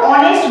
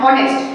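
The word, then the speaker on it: honest: বলছি দেখ আমরা যখন অনেস্ট বলছি আমি এটা নিয়েছি অনেস্ট এন এসটি অনেস্ট অনেস্ট যখন বলছি আমি কি বলছি অনেস্ট এইচ নিজের উচ্চারণ কিন্তু হচ্ছে না আমরা কিন্তু এরকম বলি না হনেস্ট হনেস্ট কি আমরা বলি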